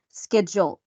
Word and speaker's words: schedule: Schedule. It's schedule in the American accent, but in the British accent, how do we pronounce it?